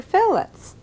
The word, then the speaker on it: fillet: readily available for you you could substitute flounder fillets in cooking there are two words that a